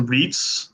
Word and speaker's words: REITs: when it comes to REITs uh I know that they rhyme with Feats and I am banging